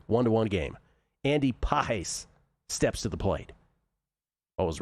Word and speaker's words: Pages: Andy Pahes steps to the plate. Always remember Jason Weineard. Dude, I was just going to bring it up. Just going to bring up He loves himself some Andy Pahes.